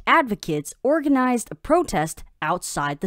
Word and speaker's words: advocate: Shane 上周领养了一只小狗。再来我们看到单字 advocate，它是名词，指的是提倡者、拥护者。例如 Vera is an advocate for strict environmental laws. Vera 是严格的环境保护法的提倡者。或是 A group of women's right advocates organized a protest outside the city hall.